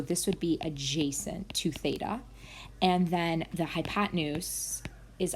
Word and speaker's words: theta: Now, be careful because theta, which is our angle, so you'll see this notation if you haven't seen it before, it's pronounced theta, can move around the triangle.